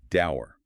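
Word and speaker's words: dour: Daer. D O R pronounced just like the word door.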